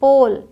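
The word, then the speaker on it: pole: आते हैं ओ पे अब यहां पे भी ई साइलेंट रहेगा और अब लॉन्ग ओ होगा अभी वहां ओ था यहां ओ होगा पी ओ एल ई पोल एम ओ एल ई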